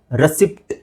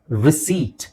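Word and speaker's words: receipt: ಜನ miss pronounce ಮಾಡ್ತಾರೆ ಹೇಗೆ ರೆಸಿಪ್ಟ್ ಅಂತ ಹೇಳ್ತಾರೆ ರೆಸಿಪ್ಟ್ ಓಕೆ ರೆಸಿಪಿಟ್ ಅಂತ ಹೇಳಂಗಿಲ್ಲ ರಿಸೀಟ್ ನೋಡಿ ಸಿಂಪಲ್ ಆಗಿ ರಿಸೀಟ್ ಸೋ ರಿಸೀಟ್ right okay next ಇದು ಬುಧವಾರ ಅನ್ಲಿಕ್ಕೆ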